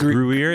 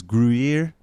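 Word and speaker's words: Gruyère: is that starch yeah isn't that how you pronounce it uh it was brewier it was grier starting to sound like kendrick perkins trying to say moses moody uh anyway gruer it was it was gruyere uh soft boiled eggs on it and sour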